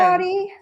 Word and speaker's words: Audi: Audie. So is it okay? Do I say Audie's Hi, Audie. name wrong, or is it my accent? It's Audi. Audi. I say Audi.